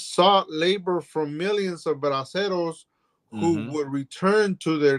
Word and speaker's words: braceros: The Bracero program had brought more than 4 million braceros to work in the U.S. agricultural and railroads. So 4 million braceros. How you say it? How you say it? I gotta roll my tongue.